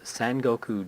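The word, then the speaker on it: Sengoku: announced like last year its San Goku justice or San Gokul justice is really the proper way of pronouncing that that's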